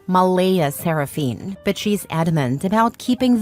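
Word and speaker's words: Mleigha Seraphyne: Clare insists it's pronounced Malaya Saraphene, but she's adamant about keeping the creative spelling because normal names are boring and my daughter deserves to stand out.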